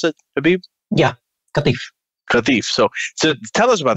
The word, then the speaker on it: Qatif: Is that how you pronounce it, Habeeb? Yeah, Qatif.